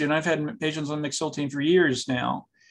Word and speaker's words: mexiletine: But the first question comes from somebody who has been taking, it's pronounced mexiletine. Am I saying that correctly? Yes, mexiletine.